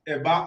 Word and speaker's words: Eba: But Eba Island, which is correctly pronounced Eba Island in our dialect here in Ondo State, is in Atijere, Ilaje local government of Ondo State.